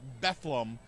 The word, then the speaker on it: Bethlehem: uh and I apologize I might go back from Bethlehem or bethleem they pronounce it bethleem yes they do not